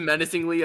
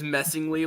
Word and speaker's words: menacingly: I just saw how you like mispronounced it menacingly as messingly.